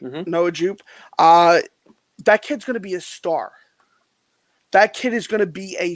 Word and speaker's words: Noah Jupe: You know, it's Noah Jupe, right? I'm saying it right. Mhm. Noah Jupe.